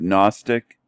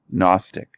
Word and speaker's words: Gnostic: At first, I thought he was saying agnostics. But he's trying to say Gnostics. He's trying to say the G.